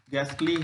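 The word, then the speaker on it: ghastly: जैसे राइम आ जा रहा है, राइदम है, इको है, अगास्ट है, गोल है, गैस्टली है, कोरश है, इसमें एच का उच्चारण नहीं हो रहा है, साइलेंट माना गया है।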